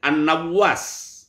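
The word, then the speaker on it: النواس: An-Nawwas, Anin Nawwas ya. Nama sahabatnya An-Nawwas bi fath'in nun. Huruf nun berharokat fathah, wa tasdidil wawi, dan huruf wawunya bertasdid, Nawwas.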